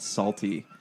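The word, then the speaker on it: Psalty: make me watch called salty I'm keeping spell salty salty is spelled with a with a P in the beginning like Psalm and the point of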